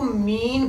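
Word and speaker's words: mesne: अगर wrongful possession होगी तो वो मीन प्रॉफिट होगा या मीसनी प्रॉफिट, ठीक है। मैसने होता है ना, एस साइलेंट है तो मीन कहते हैं ना।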